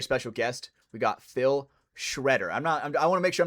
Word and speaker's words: Schroeder: It's not like Nate Schrader, Schmoder, Motor. No, yeah, no. It's actually Schroeder, but yeah, I just got the nickname Shredder like back in the